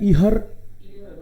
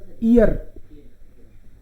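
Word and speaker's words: ihr: ये इसको बोलता है ईहर, ईयर, इसको नहीं पढ़ना है ना, बीच में एच आए तो साइलेंट रखना है उसको, ईयर।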